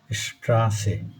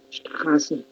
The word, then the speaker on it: Straße: এই এস সেটের উচ্চারণটা হচ্ছে সবসময় ছয়ের মতন। আ umlaut erga, O umlaut schön, U umlaut Bücher, S-Set Straße.